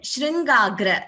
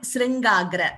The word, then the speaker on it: Shringagra: Still a bit, some letters have to be clearer, but also one more observation is, it is not Sri, it is Shri Venkatadri and Shringagra, not Sringagra.